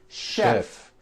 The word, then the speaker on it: chef: more difficult there are a couple of words that are spelled with ch and are also pronounced with a sh sound words like chef and the city of